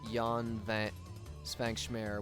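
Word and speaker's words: Jan Švankmajer: His name is mispronounced. is pronounced Jan Van Svankschmer, which is surrealist stop motion.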